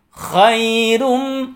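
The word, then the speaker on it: خَيْرٌ: tergesa-gesa ya Lailatul Qadri Khairun Kho tidak boleh maju bibirnya saat melafalkan huruf Kho karena huruf coiny huruf tenggorokan ya bukan huruf bibir jadi tidak boleh dimajukan bibir kita saat melafalkan huruf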